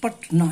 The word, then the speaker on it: पटना: पटना, you pronounce पटना इन डायसिलेबिक वे, इन 2 breaks, in 2 strokes. तो पटना, आप क्या इसको उच्चारण तो ऐसे नहीं करते हैं, हम करते हैं पट और ना, दिस वे।